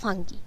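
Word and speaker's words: Fungi: মনেরা আর প্রোটিস্টার পর আমরা আসবো ফাঞ্জি, যাকে ইংলিশে উচ্চারণ করা হয় ফাঙ্গি বা ফাঙ্গাস, অর্থাৎ ছত্রাক।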